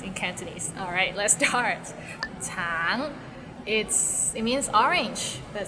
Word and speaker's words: 橙: Tang, it means orange, but some people might find it difficult because the end has a little ng, so it's a bit of nasal sound. Tang, tang.